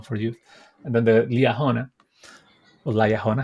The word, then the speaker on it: Liahona: youth, and then the Liahona, or Liahona. How do you say in English? Leah Honer, I think. Liahona.